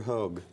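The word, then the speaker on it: Høeg: U you think uh Peter hog I think that's how he pronounced his name SMA sens of snow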